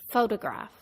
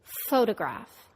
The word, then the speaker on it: photograph: slightly de-stressed glitch English photograph the first syllable is stressed foe the second syllable is de-stressed it becomes da and the third syllable is a secondary stress it's somewhere in the middle graph repeat photograph photograph stressing and de-stressing syllables